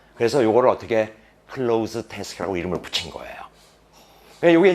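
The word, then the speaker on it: cloze: 이 발음이 close, z 사운드가 난다고. 그래서 요거를 어떻게 close task라고 이름을 붙인 거예요.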